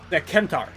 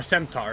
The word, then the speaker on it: centaur: And people are very quick to see that as, like, far less acceptable as than a kentaur or centaur, depending on how I want to pronounce it, because there you have, like, the